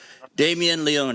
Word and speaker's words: Damien Leone: writer director of terrifier okay writer director terrified damien leone is that and i pronounced that right correct that is correct okay